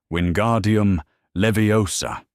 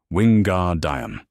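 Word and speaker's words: Wingardium Leviosa: "Wardium leviosa," he said. The pronunciation was exact. 3 weeks ago in charms, he had said it wrong. Wingguar dime, the stress in the wrong place, and Hermione had leaned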